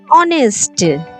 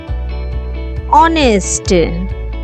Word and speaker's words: honest: As for example, hour, honest. In this word, first letter is H, that is consonant. But here the first letter consonant is not pronounced and the word begins with vowel sound. Hour, honest, vowel sound.